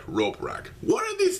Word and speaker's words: Roporak: Not Voporak, Roporak.